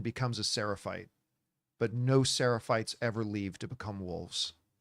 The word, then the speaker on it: Seraphites: Not the Seraphists, or what were The they?